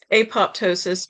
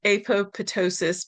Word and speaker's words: apoptosis: die, which is called apoptosis, or as some people pronounce it, apoptosis, because they say ptosis is the root word and apo is the prefix.